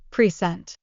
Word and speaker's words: present: a word for instance present when used as a noun like a gift is pressed on the first syllable pure recent but when it's used as a verb like in I will present my project the stress moves to the second syllable precent absolutely and Learners often